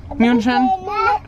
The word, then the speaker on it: München: München.